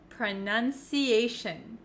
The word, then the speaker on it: pronunciation: that o sound but for pronunciation and any word almost that ends in t i o n we actually pronounce it as Shin Shin so you can see my mouth is not opening like an o sound pronunciation pronunciation okay that